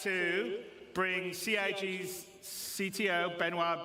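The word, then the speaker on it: Benoît: to bring Ci's CTO benoir bezer did I say it right benoir yeah okay good I'm always bad with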